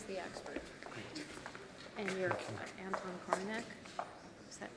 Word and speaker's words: Korinek: And you're Anton Korinek. Is that pronounced your name right?